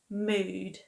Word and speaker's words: mood: sound should be pronounced Now in this case though, however, the double O sound actually makes the long oo sound. So we've got food, food, and ood, mood.